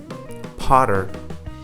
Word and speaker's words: potter: Water, daughter, matter, potter. Did you spot this? When the T appeared in between two vowels, then the T was acting like a flap T, or you can simply put, it was acting like a D.